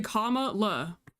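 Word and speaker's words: Kamala: No, it's comma. That's why I corrected you. It's comma. It's literally comma la. So comma la.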